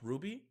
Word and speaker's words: RWBY: A while back, this show called RWBY came out. Wait, it's pronounced Ruby? How the do you get a U sound from W?